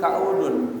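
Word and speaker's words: كؤودا: Bi fathil kaf, dibaca ka, bi fathi, dengan difathahkan al kaf, huruf kafnya bacanya kaudun. Ya. Sesungguhnya tanjakan itu bagaikan bagaikan gunung, artinya capek mendaki ke atas. Ya. Wa dhammil hamzah, dan hamzahnya dibaca dhammah, kau.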